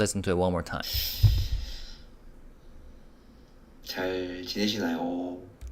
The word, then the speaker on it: 잘: j sound as a consonant with the vowel 자. With the 받침 릴, and that becomes 잘.